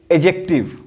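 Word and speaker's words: adjective: क्योंकि बच्चों हाईलाइट करता हूं, ये जो डी है ना, इसकी उच्चारण एडजेक्टिव में नहीं होती, इसको एडजेक्टिव नहीं बोलते हैं।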